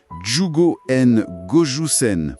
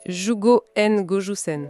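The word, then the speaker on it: 十五円五十銭: Et la prononciation exacte en japonais avec les bonnes intonations, c'est "Jūgo en gojū sen". "Jūgo en gojū sen".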